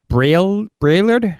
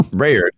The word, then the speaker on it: Braillard: Just say it as it's spelled. Braillard? There you go. Braillard.